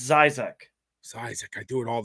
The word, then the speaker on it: Zysek: and I always say your last name wrong so go ahead and say your name it's Zac Zac I do it all the time I'm